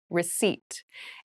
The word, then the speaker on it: receipt: a very interesting spelling there is a p in the spelling of this word but we do not pronounce it the pronunciation is receipt a receipt is a